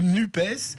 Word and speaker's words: NUPES: Alors Valérie, il va falloir s'habituer à prononcer ce nom du groupe toute cette semaine, NUP ou NUPES. Alors pour démarrer, ce petit truc donné il y a 15 jours par Sandrine Rousseau. Moi je dis NUPS parce que c'est un petit côté cacahuète grillée